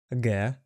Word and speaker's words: Ґ: A like in haha, b like in boy, v like in van, g like in get.